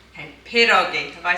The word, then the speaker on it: pierogi: how to do a typical Polish dish called Pierogi. Okay, perogi.